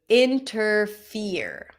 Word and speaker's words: interfere: The next word, say it, interfere. Interfere. Stress is on the last syllable.